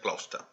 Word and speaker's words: Gloucester: Enrique III encomendó a su joyero, Guillermo de Gloucester, yo digo Gloucester para que ustedes sepan cómo se escribe en realidad, pero esto en inglés se pronuncia Gloucester, cuyo nombre aparece en el reverso de estas monedas como Willem on Lund.